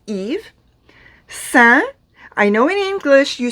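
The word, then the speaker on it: Yves: y e v s you do not pronounce the s it is eve i know in english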